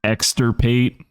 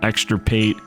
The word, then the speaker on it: Exenterate: So, you could use addle, exenterate, I think is how it's pronounced.